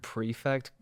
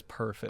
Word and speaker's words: prefect: and it the word prefect like showed up, I always read it as perfect."